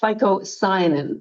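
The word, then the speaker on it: phycocyanin: It has the green one everyone's familiar with, chlorophyll, but it has a second pigment which is called ficoyanin, which is spelled with a phy.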